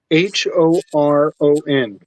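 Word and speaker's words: Beth Horon: BETH dash HORON. See, that's Horon.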